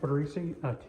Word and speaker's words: Tortorice: To start, go ahead, for the record, give me your name, how to spell it, and your title. Tortorice, T-O-R-T-O-R-I-C-E, and I'm City Councilman for District 4.